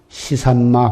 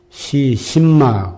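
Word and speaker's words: 是甚麼: 근원이 되는 것이 바로 시삼마 화두, 이 무엇고다, 이 무엇고. 한문으로 하면 시신마 그러기도 하고 시삼마하고, 중국 발음으로는 시스마.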